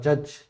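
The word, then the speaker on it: judge: Agent, इसके बाद एडजज, इसके बाद जज, यहाँ पे डी नहीं बोला जाएगा।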